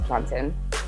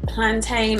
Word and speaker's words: plantain: But I will maintain that everyone is saying mountain. No one's saying mountain, so I'm going to stick to plantain. When it comes down to it, plantain is the way to go.